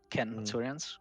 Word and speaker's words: centurions: You have to make sure that your legion is led by a group of centurions, centurions with a hard C. That's how Latin works.